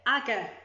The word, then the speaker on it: Agur: But we're going to go with Aga because that's what it told me.